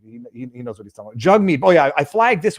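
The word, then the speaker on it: Jagmeet: pronounce it it's not Jag meat he says uh my name's jugg meat it pron you pronounce it like hug me or something stupid but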